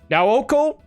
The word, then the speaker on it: Nao: The artist was Naoko, or the artist would like to be pronounced as Nao.